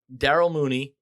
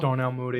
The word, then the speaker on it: Darnell Mooney: LaVisca, Randall Cobb, Devontae Parker, Darrell Mooney, Jamison Crowder. Did I say his name wrong? Darnell Mooney.